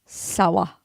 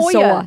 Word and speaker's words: Sawa: Devon Sawa. Yeah. Devon Sawyer. Sawa. Are you sure? Sawyer. It's spelled Yes. S-A-W-A.